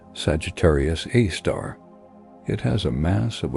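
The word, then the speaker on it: Sagittarius A*: Our galaxy's central black hole is called Sagittarius A asterisp or Sgr a asterisk for short pronounced Sagittarius A star.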